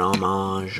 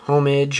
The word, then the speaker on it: homage: an homage, or an homage, or whatever. I don't care how you pronounce it. I've heard it pronounced homage, homage, and homage.